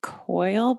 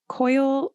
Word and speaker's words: Coyle: I would guess Coyle. It's Coyle. Yeah. So Coyle.